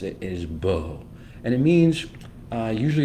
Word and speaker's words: Bo: Hebrew bet Olive that say it and I'll pronounce it is Bo and it means uh usually it's translated to